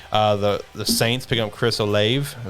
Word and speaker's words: Olave: 18, the Saints picking up Chris Olave. Is that how you pronounce that?